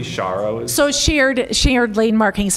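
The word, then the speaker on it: sharrows: do notice on it says cheros am I pronouncing that correctly shos so shared shared Lane markings and people call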